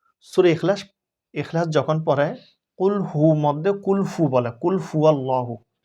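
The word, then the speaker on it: قُلْ هُوَ: অধিকাংশ মানুষ আমি দেখছি সূরা ইখলাস ইখলাস যখন পড়ে কুলহু মধ্যে কুলহু বলে কুলহু আল্লাহু অধিকাংশ মানুষ আমি অনেক জায়গায় দেখেছি। কুলহুর জায়গার মধ্যে ফু উচ্চারণ করে।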